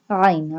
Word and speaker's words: ع: Ain. Ain pronounced from the middle part of throat.